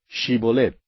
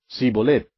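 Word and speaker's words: Shibboleth: Si él respondía, «No», entonces le decían, «Ahora pues di Shibolet». Y él decía, Sibolet, porque no podía pronunciarlo correctamente.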